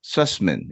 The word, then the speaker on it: Sussman: And co-wrote 4 episodes with Mike Sussman. Is that I'm pronouncing his name right? S-U-S-S-N? Absolutely. Sussman, he goes by Michael now, but he was Mike then.